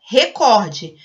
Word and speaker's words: recorde: O certo é recorde. Mas, como em inglês ela é uma palavra proparoxítona, que seria recorde, a gente acaba se acostumando e pronuncia dessa forma.